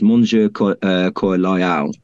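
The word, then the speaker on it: Mon cœur loyal: heart is um well Henry would actually say it in French um I forgive my bad pronunciation but it's moner cor loal and um so loyal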